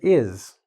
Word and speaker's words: his: And "iz". Right? I know it's "iss", it looks like this, "his", but this makes this sound, the "iz" sound.